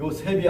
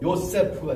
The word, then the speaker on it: 요세프: 세트 이렇게 되는 거야 이게 새가 아니고 요셉이 아니고 요세프가 돼요 근데 우리는이 이름이 어디서